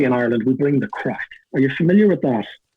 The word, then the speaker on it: craic: We spell it differently. It's CRAIC, crack.